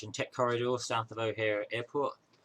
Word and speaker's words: O'Hare: Tech Corridor south of O'Hare Airport. I said O'Hare this time, not O'Hare. Pronounce it correctly, boy.